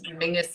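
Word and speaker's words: Menzies: for anybody body else Mingus is how weirdly the Scottish people um that's that's how they would pronounce menes I don't understand where the G comes out of it but that's it is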